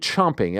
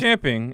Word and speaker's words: champing: bid as they say or is it chomping it's champing and I'm very proud of you right now thank you well I do think it is chomping but I think it's pronounced I think it's champing but I think it's pronounced more chomping I think um people have just thrown caution to the wind and just say whatever the hell they want but it's actually champing so it it so